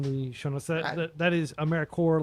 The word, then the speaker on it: AmeriCorps: That is AmeriCorps, like CORPS. I have no idea why it's pronounced that way, but that's why it's pronounced that way.